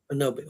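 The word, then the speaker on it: Anunoby: Is it I'm not saying I'm pronouncing right because I'm asking you. Is it Anobi? Yeah. OG and Anobi. Anobi.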